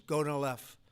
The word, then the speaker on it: Gonal-F: So it's Gonal-F. Is that a proper pronunciation? Very Close well enough, done.